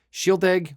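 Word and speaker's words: Shieldaig: So shield egg, was it 10 or 12? I forget which. Shield, SHIELD-AIG is how you spell it.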